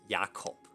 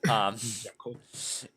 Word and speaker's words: Jakob: Or Jakob, if you want to pronounce it the German way. Jakob.